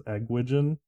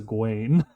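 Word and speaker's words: Egwene: pronunciations of everything and so my brother thought of gwen's name was eggwijn because of the way it's spelt no i get it i was like it's a gwain there's a lot of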